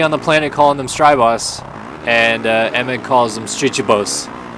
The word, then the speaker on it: Strybos: everybody I've ever heard except Jeff Emmett calls him Kevin Strybos or Strybos. And then Jeff Emmett calls him Streejbos.